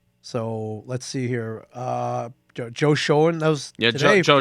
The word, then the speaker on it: Schoen: Joe Schoen. That was today. Joe Shane. It's pronounced Joe Shane.